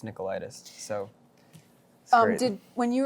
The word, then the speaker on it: Nicolaides: so bad yeah he was like the Greek pronunciation is nickel nickel ieds oh and then it looks like ladies mm-hmm but it's Nikolaidis so oh did when you were growing up